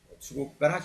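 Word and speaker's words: 中国: 주국가라 기마시다. 주국가 여기도 다찌즈에서 쭈가 됐죠. 근데 쭈가 아니라 거의 주로 발음됩니다.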